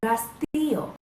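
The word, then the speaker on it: rastrillo: Rake is rastillo. Can you say rastillo? Rastillo. Muy bien. Ah, that's a good R.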